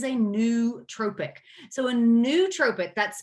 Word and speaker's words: nootropic: the heck is a new tropic so a nootropic that's spelled n-o-o-t-r-o-p-i-c-s okay nootropics are compounds or supplements